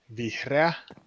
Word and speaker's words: vihreä: green is vihreä, and blue one is sininen.